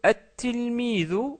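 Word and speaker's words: التلميذ: Donc toutes ces lettres se doublent au début, donc c'est pour ça qu'on met une shadda et on ne prononce pas le lem. Par exemple, le mot at-tilmidu, que nous venons de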